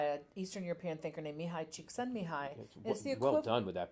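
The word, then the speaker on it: Mihaly Csikszentmihalyi: flow pioneered by an Eastern European thinker named Mihai cheek send me hi well done with that pronunciation try to skull prints it's the equivalent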